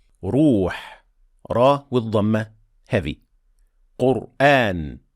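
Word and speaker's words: القرآن: Qur'an, the letter before Ra has Dhamma, so it is heavy.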